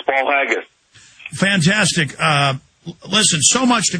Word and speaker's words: Paul Haggis: It has been hailed by 2 Academy Award winner Paul Higgins as powerful and often chilling eye-opener. Hope I'm pronouncing that. Paul Haggis, I think I'm pronouncing that right, Mr. Miller? It is. It's Paul Haggis.